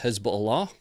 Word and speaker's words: Hezbollah: in the north uh I don't care if it's pronounced hezb Allah we'll see footage from